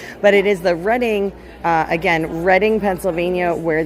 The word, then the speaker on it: Reading: You guys might know it as the Reading Railroad on the Monopoly board cuz everybody always pronounces it wrong. But it is the Reading uh again Reading, Pennsylvania where these guys are based out of.